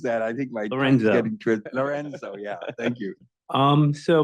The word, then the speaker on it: Lorenzo: conference probably too much fun but have to pronounce that I think myorzo Lorenzo yeah thank you um so my background um